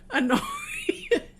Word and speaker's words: Honoria: Honoria. Once I pronounce names a particular way, I do have a tendency to kind of drag people along with me.